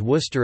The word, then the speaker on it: Worcester: As with the city in England, the first syllable of Chester Castra is left entirely unvoiced. Combined with a traditionally non-rhotic Eastern New England English accent, the name can be transcribed as Wuz-T-U-H or Wuz-T-U-H, the first syllable possibly having a near-close central unrounded vowel.